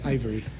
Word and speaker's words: Ivereigh: Sí, los argentinos siempre me convierten en alemán, Ivery. Es Ivory. Como marfil.